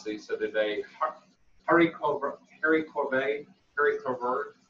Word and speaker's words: haricots verts: Haricots vert. I thought I was going to say it. I used to call it haricots verts, but that's not it.